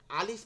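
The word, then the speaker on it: ألف: আলিফ আ আ leaf, কোনো টান হবে না কিন্তু আলিফের মধ্যে।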